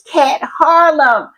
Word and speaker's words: Kat Harlem: Last time I pronounced her name wrong, and she corrected me, and I said, I will take note. So it's Kat Harlem.